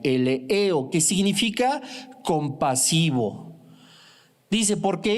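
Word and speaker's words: eleeo: La palabra misericordiosos viene del griego eleo, E-L-E-E-O, acento en la última E, eleo, que significa compasivo.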